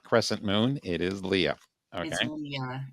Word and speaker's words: Lia: It is Leah. Okay. Leah. It's pronounced Leah, too. People get that wrong a lot.